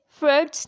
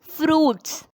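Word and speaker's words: fruits: आई टी एस अब इसमें हम इसे से फर्ड्स नहीं पड़ेंगे। The correct pronunciation of एफ आर यू आई टी एस इज़ फ्रूट्स।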